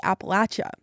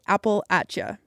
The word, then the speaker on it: Appalachia: Um, but I quickly realized that more commonly people say Appalachia. And so now, that's what I say. I say Appalacha. I've heard plenty of folks who say it both ways.